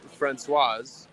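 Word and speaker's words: Françoise: Okay, the masculine version, Francois, you don't pronounce the S. The female Francoise, you do. Is that right? Am I saying it? Francoise?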